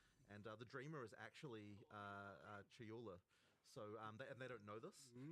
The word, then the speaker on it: Chayula: The acolyte of is it Chalula? Chayula. I always say this wrong. The acolyte of Chayula, for example.